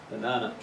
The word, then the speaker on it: banana: The first and the third syllable are uh middle one is ah. The spelling is the same. This is why you need to pay attention to the strong syllable. Reading it will never tell you.